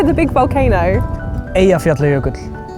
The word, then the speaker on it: Eyjafjallajökull: Eyjafjallajökull. Eyjafjallajökull.